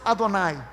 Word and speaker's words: Adonai: senhor aquino original hebraico a yahoo e que os judeus nem pronunciam onde a escrita ea rwe os judeus pronunciam adonai carro é o nome